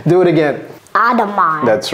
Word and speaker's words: Audemars: Audemars. That's right. Audemars.